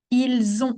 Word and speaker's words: ils ont: That would be the S sound and the one I've pronounced that the Z sound.